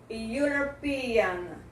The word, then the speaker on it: European: European, a palavra europeu começa com a vogal E, esse E não é pronunciado, e a letra U seguinte tem o som de Y, que é um som de consoante.